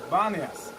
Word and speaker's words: Banias: When they come here in the Arabic alphabet, there is no P, there is only B. So they pronounce it, instead of Paneas, the city of Pan, they started to name it Banias.